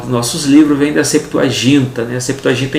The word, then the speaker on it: Septuaginta: A palavra Septuaginta, né, que até a pronúncia pode ser Septuaginta, mas na nossa língua portuguesa vamos colocar Septuaginta, tá?